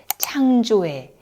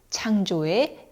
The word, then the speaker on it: 창조의: 실제 실제 이렇게 발음하세요이어서 소유격 의는 에로 발음합니다에에 걱정에 창조에네 발음의 편의상 의가 아니라 에로 발음을 하지요에는와는 달리 검지 하나가 들어갈 정도로만 입이 작게 벌어집니다 에가 아니라에에에 창조에 창조에 이렇게 발음하죠 그리고 지혜에서 예 발음